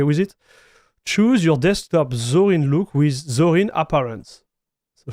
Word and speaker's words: Zorin: into zorin OS so I'm going to pronounce it zorin and not Zoran because Zoran will be the French one of seeing it hi there take